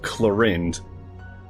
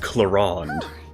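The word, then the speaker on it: Clorinde: I mean, seriously, why is it spelled Clarind but pronounced Clarand?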